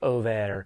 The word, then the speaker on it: Ove: This is A Man Called Ove, or technically Over is how you say it in Swedish.